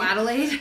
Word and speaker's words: Adelaide: gonna push it I'm gonna ask you to pronounce the black name oh Adelaide thank you that's why you're here just lost